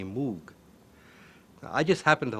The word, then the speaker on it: Moog: you pronounce em oog it's originally a Dutch name this goes back you know a thousand years or so and in Howard you would pronounce it mo yeah I'm not gonna say that in Great Britain in english-speaking countries people see the double O and they say Moog I just happen to